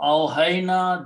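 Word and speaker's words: أوحينا: Now in the recitation, because there is a hamza here, so alif before the hamza, because of the hamza, will carry a long mad on it. That's the awhayna. It should be pronounced that way because of this hamza.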